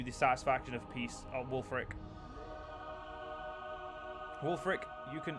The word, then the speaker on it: Wulfric: satisfaction of peace out Wulfric Wulfric you can I'm pretty sure it's pronounced old Frick but I'm gonna keep calling bull for it cuz it sounds cooler you can keep going at